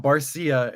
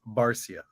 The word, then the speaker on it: Barcia: It's not Barcia, it's Barcia. Like it's like more like to the point, not like Barcia, like Sia, it's not.